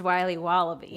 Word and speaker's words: Wiley Wallaby: Wiley's wallabies wallaby Wally's will be wobba beats pronounced Wiley wallaby well it's very good it's called Wiley wallaby